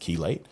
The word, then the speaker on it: chelate: It's it's spelled chellate, but it's it's pronounced chelate.